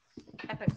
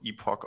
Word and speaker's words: epoch: for the next one Epic markers yeah that is a fun one so depending on your pronunciation this is about Epoch or epic markers what your name my